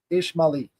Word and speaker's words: Ismaili: ISMA apostrophe ILI, Ismaili.